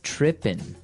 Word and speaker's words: tripping: So they started talking about girls and he mentioned that this girl started tripping. Tripping. Tripping. So to trip, right? As you notice, it's tripping. It doesn't have the G at the end, which isn't really grammatically correct, but that's kind of the way it's pronounced.